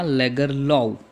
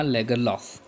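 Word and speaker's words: Selma Lagerlöf: तो एक British pronunciation इसका क्या होता है, सेल्मा लेगरलॉव, क्या होता है, लेगरलॉव, राइट। लेकिन इंडियन प्रोनाउंसिएशन में उसे प्रोनाउंस किया जाता है सेल्मा लेगरलॉफ, राइट, जो कि एक स्वीडिश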